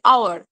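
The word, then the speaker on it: hour: ওকে, আচ্ছা, সেকেন্ড কি আছে, যখন এইচ সাইলেন্ট হবে, এই যে আমরা এটাকে তো হাওয়ার উচ্চারণ করি না, আমরা কি উচ্চারণ করি, আওয়ার।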